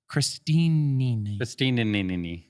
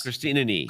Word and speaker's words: Christini: You're saying it wrong. Christini. Guys, stop it! How many knees are there? Names are valuable. It's how people identify themselves. Christina Nee.